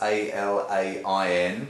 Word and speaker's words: Alain: Alan isn't spelt normal, it's A-L-A-I-N. Well, the correct pronunciation, my name is Alain. Oh. Okay, but Alan will do.